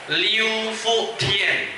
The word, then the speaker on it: Liu Fu Tian: Liu Fu Tian. Makhrajnya harus pas makhrajnya ya, pronunciation-nya.